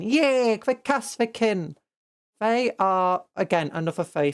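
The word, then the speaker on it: Kasrkin: Oh, wait, how do you pronounce them again? I always get it wrong. Kasvikin. Yay! The Kasvikin.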